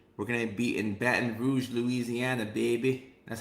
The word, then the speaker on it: Baton Rouge: Next week, we're going to be in Baton Rouge, Louisiana, baby.